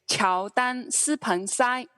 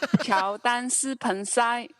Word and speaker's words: 乔丹斯彭塞: But it's very close to the English pronunciation. So Jordan Spencer is 乔丹斯彭塞. 乔丹斯彭塞.